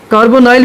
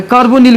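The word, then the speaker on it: carbonyl: कार्बोनाइल भी कुछ लोग इसको बोलते हैं, कार्बोनिल बोलते हैं, ठीक है, कार्बोनिल ग्रुप। वैसे भी देखिए प्रोनाउंसिएशन के अंदर आप जो ना, ये केमिस्ट्री में यह है कि जहाँ पे भी NY हो ना, तो उसको निल यानी I के सेंस में लिया जाता है, कार्बोनिल ग्रुप, ठीक है।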